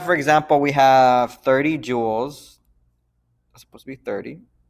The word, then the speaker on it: joules: always be joules and it's pronounced joules like jewelry joules okay so that's the